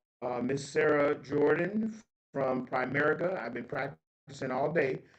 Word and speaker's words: Primerica: Uh Miss Sarah Jordan from Primerica.